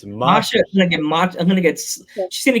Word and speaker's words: Masha: I always say her name wrong. I'm gonna get Masha. It's Masha.